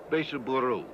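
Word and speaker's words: ベースボール: Beisuburu, as they pronounce it.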